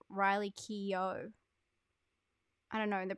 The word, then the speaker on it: Riley Keough: hard to pronounce as riley co who's from i have to say it isn't i just realized recently it isn't riley co it's riley keough i don't know the